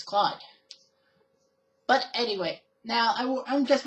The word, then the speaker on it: Claude: now for disclaimers sake even though his name is spelled by Claude see lau de in the show he's name as clothed so yeah that always is a sticking point if your french-canadian you know that it's Claude but anyway now I'm